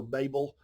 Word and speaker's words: Babel: a story about the tower of babel or babel depending on how you want to pronounce it um that people were